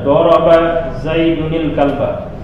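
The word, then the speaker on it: ضَرَبَ زَيْدٌ الْكَلْبَ: Daraba Zaidun al-kalba, atau lebih bagusnya membacanya sekali baca. Daraba Zaidunil kalba.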